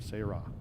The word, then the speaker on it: Sarah: And yes, that is the proper way to pronounce her name, Sarah.